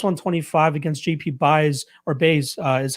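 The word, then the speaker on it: Báez: We got Bruno Silva plus 125 against JP Baez, or Baez is how you pronounce it, at minus 145.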